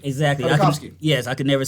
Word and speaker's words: Tartakovsky: Gendy Tartakovsky. Exactly. Tartakovsky.